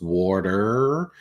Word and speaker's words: water: Australians say water, because we don't pronounce the R, and we don't even really pronounce the T. We make it a D, and it really confuses and sometimes infuriates Americans, I've seen, because most Americans, apart from Bostonians, really pronounce the letter R at the end of the word.